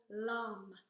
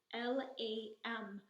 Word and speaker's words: LAM: So the mantra for the first chakra is the syllable LAM, L-A-M, LAM. So we say this kind of like in a yoga class where we would chant the word Om, which resonates in a different chakra.